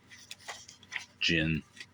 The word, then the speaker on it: djinn: DJINN. I think that's pronounced gin.